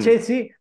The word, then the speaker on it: Spaccesi: Me dice Spaccesi, está Ceci, lo mezclan. Está muy bien, Spaccesi, porque la CC en italiano es che.